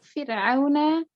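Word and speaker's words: فِرْعَوْنَ: Untuk Fir'auna masih terdengar tebal Kak. Nah, kalau sebelum huruf ro itu harokannya kasroh dan setelahnya bukan huruf isti'la, nah di sini huruf ain, maka bacanya fir, bukan fir.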